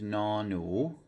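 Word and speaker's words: หนู: Okay, so the next one here is no nu, no nu. So that second word is a rising tone, means mouse.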